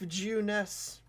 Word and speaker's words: Junes: It's one of the things I was translated because in Japan, or the Japanese version of the game, it's everyday young life, Juness. That's how it's pronounced, but it doesn't make any sense, so that's one of the things they changed in localization.